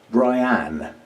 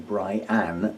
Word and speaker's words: Brianne: I believe it said Brianne, because it's spelled I-N-N-E, so Brianne rather than Brian.